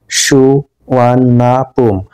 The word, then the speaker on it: Suvarnabhumi: 4:55 মিনিটে অবতরণ করল দ্যা নেম সুবর্ণভূমি ইজ প্রোনাউন্স সুয়ানাপুম অর্থাৎ এই যে সুবর্ণভূমি এটাকে উচ্চারণ করা হয় সুয়ানাপুম হিসেবে নেম ইজ ড্রাইভ ফ্রম